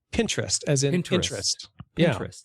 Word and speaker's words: Pinterest: and it's apparently pronounced Pinterest as in Pinterest like I am a pinteresting person so uh I brought